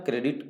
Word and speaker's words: Corps: तो NCC का full form correct answer होगा नेशनल कैडेट कोर। कोर का स्पेलिंग लिखते हैं CORPS, बट पढ़ते हैं कोर, इसलिए ध्यान रहे सी वाले से, बाकी सभी गलत हो।